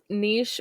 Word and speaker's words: niche: is both okay because I use both pronunciations I use Niche when it's an action and Niche when it's like a thing I know got it